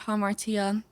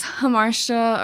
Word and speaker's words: Hamartia: And in December, I released a 5-track EP called Hamartia. But Okay, yeah, that's how you pronounce it.